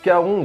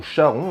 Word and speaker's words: Charon: Alors Charon ou Charon, les deux prononciations existent, donc moi je vais adopter Charon.